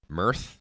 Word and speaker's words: myrrh: wouldn't be rancid oh it's Mir Mir oh it's spelled m y r RH it's pronounced M